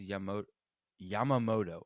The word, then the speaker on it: Yamamoto: I always feel like I'm gonna mispronounce his name, but it is Yamamoto.